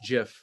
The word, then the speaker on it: GIF: guys what is it jeff i think i say jiff jiffy because graphic starts with a hard g even though the guy who invented it says it's jeff yeah uh but uh